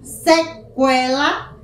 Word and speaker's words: sequela: Outra palavra, sequela, tranquilo. O U também é pronunciado.